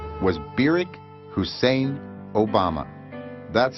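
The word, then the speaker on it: Barack: from kenya in august of 1959 was barrick hussein obama that's how he pronounced his name he was welcomed at hickam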